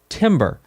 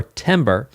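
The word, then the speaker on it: timbre: and that's because of something called Timber or Timber and it's spelled t-i-m-b-r-e and Timber is the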